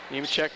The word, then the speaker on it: Nemechek: Nemechek, yeah, I had to ask for sure, and they gave me the pronunciation. Nemechek, you asked the guy next to you, I asked the one next to me.